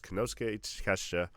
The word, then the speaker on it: Konosuke Takeshita: We have Jon Moxley versus Konosuke Takeshita.